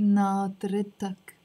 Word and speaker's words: ناطرتك: But when I'm adding the أك here, I'm not going to say ناطرك. I start pronouncing the ت مربوطة, and I start saying ناطرتك.